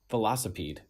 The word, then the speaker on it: velocipede: that again thunderus veloc velocipede oh yeah like velocity but it's a a insect thing velocipede vede um so this